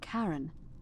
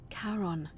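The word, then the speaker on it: Charon: it's just as you described it only your pronunciation is a little off the name you heard wasn't karen it was c h a c as in caron the ferryman of the dead karon who in exchange for the right coin helps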